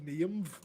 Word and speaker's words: Niamh: Sorry, I'm quite passionate when it comes to pronunciation. What can I say? You're not a big fan of Niamh?